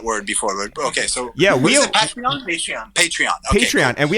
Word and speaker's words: Patreon: Are you guys going to do, I don't know how to pronounce it, Pradian? Patreon.